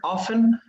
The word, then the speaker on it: often: often remember this word often the t is silent we often we often